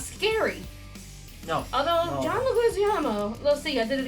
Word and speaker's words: Leguizamo: It's John Leguizamo. I love Leguizamo. I've been pronouncing that name wrong my entire life. It's not Leguizamo. It's Leguizamo. It's John Leguizamo.